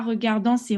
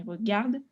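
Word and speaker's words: regardent: - alors c'est pas regardant ses regarde comme toi là quand c'est le verbe à la troisième personne du présent on prononce pas regardants mais regarde alors ensuite quatrième phrase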